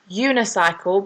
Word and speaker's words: unicycle: and that is because although unicycle begins with a vowel, which is when we normally use an, in this instance it doesn't sound like an like umbrella or umpire. Unicycle actually makes that U sound, which isn't one of those vowel sounds, so in this case